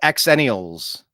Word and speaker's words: xennials: there we go yeah we were called xennials but it's X NN I a LS I've never seen it spelled with a z although that is probably the pronunciation zenial are terrified of a